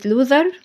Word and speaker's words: loser: كمان عندي هنا كلمه لوزر لوزر هنا الاس نطقت زد يبقى النطق الصحيح ليها لوزر بمعنى خسران او مهزوم